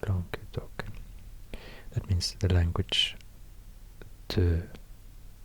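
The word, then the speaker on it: Languedoc: long long long talk I think it's pronounced long talk that means the language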